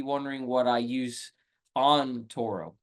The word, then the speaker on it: Turo: I'm also on Toro, which is spelled Turo.